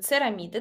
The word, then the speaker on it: церамиды: на незаменимых жирных кислотах церамиды правильно произносится церамиды до от слова церебро их присутствует достаточно большое